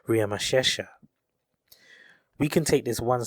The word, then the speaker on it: Ramesses: the consonants so his name is most commonly pronounced as ramesses however we have his name written on the